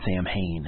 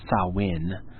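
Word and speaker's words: Samhain: were teenagers and we shot a movie called Sam Hayne and now I realize it's pronounced sawin but we called it Sam Hayne and it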